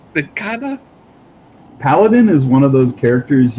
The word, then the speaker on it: paladin: I didn't know how to pronounce Paladin. Paladin.